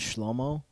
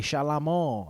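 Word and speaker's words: Shlomo: And we were outside playing and his dad yelled at the window like, "Hey, Shalamo." Like that's like that's how you say it in that language. And I was like, "Yo, is your name Shalamo? I'm over here calling you Schlommo."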